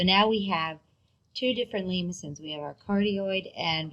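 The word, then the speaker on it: limaçon: with an inner loop this is a french word with the cedilla there that's why it's pronounced lemusin name ascend with inner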